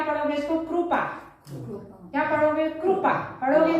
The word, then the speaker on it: कृपा: English में आई लग रहा है, यानी ई उच्चारण निकल रहा है, कृपा, तो ई उच्चारण निकल।